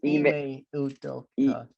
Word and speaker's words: Ime Udoka: say his name. It's Ime Udoka.